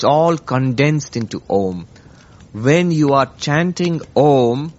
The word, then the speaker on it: Om: It's by a happy coincidence the English O and M. Om is a precise pronunciation of the Sanskrit Om.